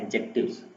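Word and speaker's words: adjective: जी आपको यहाँ पे दिया हुआ कि व्हाट आर एडजेक्टिव्स। एडजेक्टिव्स जो है यहाँ पे आपका पार्ट्स ऑफ स्पीच में से एक पार्ट है। एडजेक्टिव पढ़ते हैं, डी इसमें साइलेंट है, डायरेक्ट एडजेक्टिव पढ़ा जाता है।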